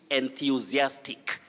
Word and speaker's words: enthusiastic: makes high school in kissy south you say enthusiastic don't enthusiastic enthusiastic and here we have that